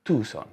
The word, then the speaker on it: Tucson: sono andato a tucon Sì si pronuncia tuson no Tucson Quindi da questo momento